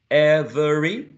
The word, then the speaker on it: every: Every. Start with a. Every. Every, perfect. Every, 2 syllables, right?